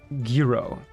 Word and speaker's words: gyro: go back to sleep gyro is pronounced like guiro okay guo what's a